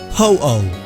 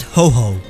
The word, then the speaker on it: Ho-Oh: Ho-Oh, not Ho-Ho.